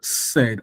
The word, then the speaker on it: said: And when I pronounce it, said, the AI gives me something like A.